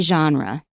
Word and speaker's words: genre: But in American English, we'd probably say genre. And that is actually just a sh sound, but you voice it sh, zh, genre.